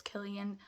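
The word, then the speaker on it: Cillian: pronouncing his name right because people are saying syan Murphy but I'm pretty sure it's it's Killian apologies sir but yes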